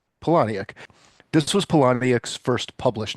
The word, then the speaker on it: Palahniuk: This was Palahniuk's, how do you say that name? I say Poloniac. Palahniuk.